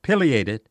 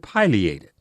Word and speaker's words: Pileated: The woodpecker whose common name is spelled Pileated is pronounced either of two ways. There seems to be no consensus on a definitive single pronunciation. Ask several of your birding friends about it, and you'll get a sampling of both answers, pileated and pileated.